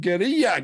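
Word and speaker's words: Guerrilla: Publisher and developer NCOFT on the license from Sony Interactive Entertainment with support from PlayStation Studios and Gera Games. Yes, that's how you actually pronounce it, has announced Horizon Steel Frontiers, a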